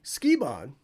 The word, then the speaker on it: Sukeban: What is Sukeban? Sukeban, or Sukeban, as it's pronounced often in the West, means delinquent girl.